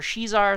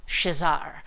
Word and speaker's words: Shezar: from the Brazilian comics shazar some people call her she's are some people call her shazar I believe it's pronounced shazar like Shazam but with an AR at the end so the Portuguese language